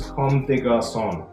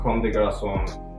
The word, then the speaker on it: Comme des Garçons: I think it is Comme des Garçons. It's French. It's a Japanese brand, but it's French.